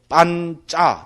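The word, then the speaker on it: pañca: 파로 안 읽고, 그러니까 격음으로 안 읽고 경음으로 읽거든요. 그것만 좀 다릅니다. 그러니까 빤짜 돼버리잖아요. C도 그죠? 차로 읽는 게 아니고 짜로 읽습니다. 빤짜.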